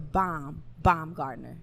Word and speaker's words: Baumgardner: It is the WBC IBO world champion, the lovely Alycia, the Baumgardner.